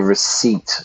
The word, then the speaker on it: receipt: The receipt from the sale. The receipt. P is silent. Receipt.